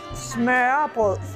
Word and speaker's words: smørrebrød: First, smørrebrød.